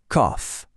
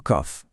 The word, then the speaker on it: cough: Et on repart sur autre chose, avec le mot cough. Ici, le OU se transforme en son off, comme dans cough.